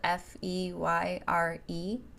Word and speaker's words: Feyre: Her name is Feyre, spelled F-E-Y-R-E, like fairy, but pronounced Feyre.